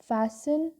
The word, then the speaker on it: fasten: It means to close और fasten, your T is silent, और envelope, ठीक आहे, बंद करून टाकणे, ठीक आहे.